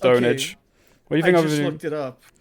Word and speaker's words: pwnage: gaming sitcom pure pwnage pwn but it's pronounced ownage it's pronounced ownage well you think it's